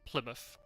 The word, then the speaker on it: Plymouth: Any place name in the UK, or at least in England, that has mouth at the end of the name is pronounced muff.